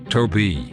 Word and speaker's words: Tobe: Tobe. Do you know what rhymes with Tobe? That's right. Okeechobee.